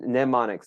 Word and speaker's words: mnemonics: with this but um mnemonics that's how you pronounce that uh this is a